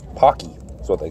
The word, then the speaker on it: Paqui: they're either it's like they say it's like pronounced like hockey but it's hockey that's what they call